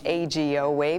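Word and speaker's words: Eiji Oue: do you pronounce AG like a capital a capital G Oh way teaching Minnesotans how to pronounce AG o way may be a challenge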